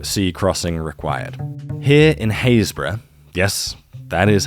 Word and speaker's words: Happisburgh: Here in Haysborough, yes, that is how it's pronounced, I know, I'm sorry.